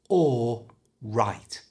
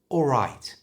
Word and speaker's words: all right: the word all right notice when we say that word the L is silent and it just becomes or right all right you try all right you can even